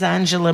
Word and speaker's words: Angela: Angela Merkel. Sure. But I don't know why, by the way, in German you would pronounce the G, soft G.